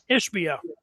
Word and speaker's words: Ishbia: You got Matt, big money, I don't know how to pronounce his last name, giving $500. How do you say it? Ishbia. Ishbia is giving out $500 for every football player on that team, and that matters.